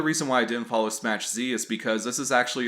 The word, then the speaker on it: Smach Z: of that I know the correct way to say it is smash Z not smash Zed thanks to the support